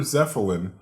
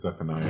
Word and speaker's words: Zeppelin: Angel manages to take your Zeppelin and... Because Zephaniah, it's called a Zeppelin.